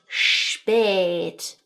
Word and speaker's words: spät: You were introduced to the long umlauted 'a' sound, which sounds like the word 'may', right? So the 'ā' in 'may' when you learned the phrase 'wie spät ist es'.